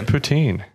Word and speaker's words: poutine: Now, I researched the pronunciation. This is a Canadian. Poutine is Canadian. It's poutine.